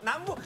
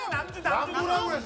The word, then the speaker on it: Namjoo: Namboo. Namboo? Who is Namboo? [The fan weirdly gets the artist's name wrong] - He said Namboo. - No, Namjoo. Namboo?